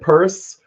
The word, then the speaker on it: Pierce: yeah and it's the the family pronounces it purse and it's it's a